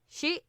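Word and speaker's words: skei: what it comes from it's spelt s-k-e-i skye it's not pronounced that way she she something like that because it's the origin of the word so it kind of has the shi sound to it it's also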